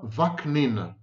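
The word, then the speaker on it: Vaknin: my name is Sam vacnin Now isn't this a simple family name it's like two syllables nebulation of a demented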